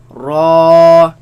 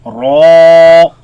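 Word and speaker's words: ر: Lam, Noon, Ra, Raise the back of the tongue. Make it heavy. Ra, Ra.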